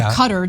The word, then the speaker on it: Qatar: What Qatar wanted, or Qatar, depending on how you want to pronounce it, what they wanted was to get the protection of the American government.